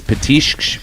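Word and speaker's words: petiscos: that sentence so it's it's patish but it's spelled like p-e-t-i-s-c-o-s but when you pronounce it it's petition like waves crashing on the shore that one picture look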